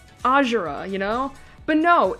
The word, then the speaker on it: Azura: know but no it's Azura and I'm like that's weird especially since we're in hoshido where the Japanese name should be like pronounced with the emphas emphasis and stress on the first syllable and you know so